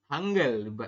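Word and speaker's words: 한글: a n berarti kan Han terus e berarti hanggel seperti itu ya untuk membacanya adalah hang G seperti ini jadi dibaca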